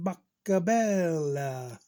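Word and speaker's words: Boccabella: and it took six days for mr john buckabella that's how they used to say his name when he come to bat old cherry park in montreal mr john boca bella had to get his autograph he signed this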